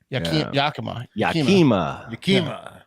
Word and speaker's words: Yakima: Yakima. It's my dog, Yakima. Like Zima.